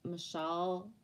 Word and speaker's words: Michel: In Quebec, we pronounce Michelle for a masculine, that's a Michael. So some people will be called Mike or Michael, but it's rare because it doesn't flow off the French tongue. A Michael or a Michelle, whether they're masculine or feminine, is pronounced the same way, just the same as Danielle and Danielle.